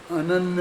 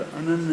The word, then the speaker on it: अनन्य: वो अगले गाथा के पद्यानुवाद में तुम पढ़े थे ना, अनन्य है, उसका कई जगह तुमने अशुद्ध उच्चारण भी किया। तो वो अनन्य शब्द है ना, कौन सी गाथा में देखो, अन्य है फिर अनन्य है लिखा है।